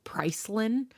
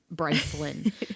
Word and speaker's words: Brycelyn: She calls me Pricelin, like Price Lin, like it's not Brycelyn.